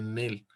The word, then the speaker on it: Néel: Esta temperatura donde se ordenan se conoce como temperatura de Néel. O Nil en inglés, pero Néel es un apellido francés. Entonces es E-E-L. Creo que no lo escribí. Es N-E-L con acento en la primera E.